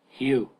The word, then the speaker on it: Hugh: Hugh. Hugh. Hugh. H-E-W. Hugh. Hugh. So, Hugh basically. No, it's like H-E-W. Hugh. Wait, low-key it's like H-E-W. No? Hugh. Just don't over pronounce the I.